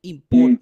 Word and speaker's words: important: let's work on the pronunciation of important you see important important uh that t is nasal important important important important